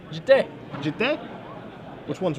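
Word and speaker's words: Jitte: Do you pronounce it, Glenn, Jeet or Jite? Jite.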